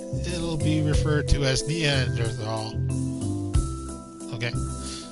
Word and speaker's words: Neanderthal: your lectures you use neanderthal i've always heard it as neanderthal is it a preference a preference and there's no h sound when it's pronounced in french oh she french you